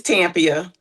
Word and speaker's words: Tampia: And is it Tampia or Tampia? It's Tampia. Oh, it's Tampia. Okay, all right. So the accent is on the first syllable.